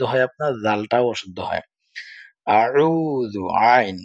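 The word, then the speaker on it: أعوذ: হামজা জবর আ, আইন পেশ, ওয়ায়ে জজম উ, আউ, জাল পেশ জু, আউযু।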